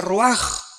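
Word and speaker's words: רוח: Aquí se usa otra palabra hebrea que es se escribe roach con R de Raúl A. Se pronuncia roaj. Por ejemplo, cuando hablamos del Espíritu Santo, el Espíritu Santo es roaj, el Kadosh, el Espíritu Santo.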